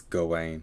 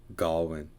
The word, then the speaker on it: Gawain: oh is that i get i assume he's pronouncing it that way because that's official it's gawain instead of garland i think it was that nerd who pronounced it galwin like when i was in a secondary school